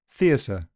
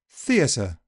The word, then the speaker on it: theatre: Theatre. You'll notice that I actually said s for the t. Listen again. Theatre. Yes, it really is an S, as if it were spelt with an S.